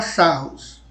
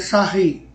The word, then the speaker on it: Sarrus: Aqui no Brasil a gente fala Sarrus, por causa da escrita, mas a pronúncia é Sarri.